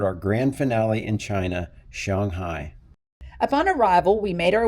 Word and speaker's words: Shanghai: Is it Shanghai? Shanghai. How do you say it? Shanghai.